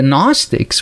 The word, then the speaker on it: Gnostic: the way, this gnosis, Gnostic with the silent G in the beginning, this is the same word that we have the word knowledge today with K-N-O-W, and this is G-N-O.